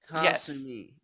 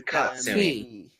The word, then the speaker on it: Katsumi: Kasumi. K-A-S. No, it's Katsumi.